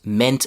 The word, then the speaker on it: meant: And even though it's an ea, which logically you might think is e, it's pronounced e. M a n t. meant.